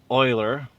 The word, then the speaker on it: Euler: The collected works of Euler, pronounced Euler, filled about 100 volumes.